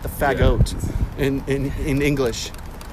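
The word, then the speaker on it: Fagott: Bassoons are known as the F-A-G-G-O-T-T. Really? Fagot. That's how you Really? pronounce bassoon.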